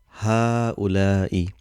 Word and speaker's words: هؤلاء: There's no mad, but how we pronounce هؤلاء. Same like hada. Originally there was alif here, a mad, but that has been omitted. Same thing here in هؤلاء. The mad has been omitted here. So this we need to